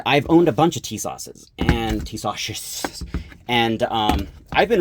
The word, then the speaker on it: Tisas: It's actually pronounced Tisas.